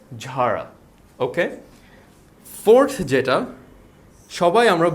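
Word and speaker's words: Zara: সো তারা এটাকে ভুল উচ্চারণ করে থাকে জারা। আমরা জারাকে জারা না বলে বলবো ঝারা। সো জেডটা হয়ে যাবে জে এইচ, আর এখানে এটা আমরা একটু নাক দিয়ে বলবো, সো ইট উইল বি ঝাড়া।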